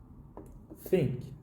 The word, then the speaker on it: think: Think. You don't really pronounce a really constant sound here, but to make up it, you use t and h as mixed.